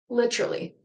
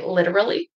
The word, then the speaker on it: literally: Literally. So you can say literally. Repeat after me, or literally, literally, literally. So litter, -ly. Literally.